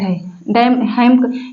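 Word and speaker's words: hymn: एम एन यहां पर देखिए एम के बाद एन आया है एम के बाद एन आया है एम के बाद एन आया है एम के बाद एन आया है तो यहां पर देखिए एन साइलेंट है म हिम का मतलब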